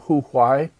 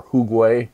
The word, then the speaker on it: Hu Gui: artists, an artist named Hu Huai, or Hu Gui, differently pronounced, Khitanese painter, not Han Chinese that is, who was active in the early 10th century.